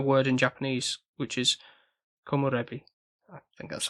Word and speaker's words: komorebi: But in the little booklet that came with the box set I've got, it mentions a word in Japanese, which is komorebi.